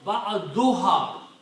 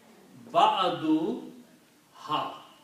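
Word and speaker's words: بعضها: it will be pronounced ba'aduha. Okay. When you combine a noun and a pronoun, then two dhammas are not pronounced. It is pronounced ba'aduha.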